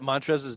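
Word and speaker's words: Montrezl: The L is silent. Montrez.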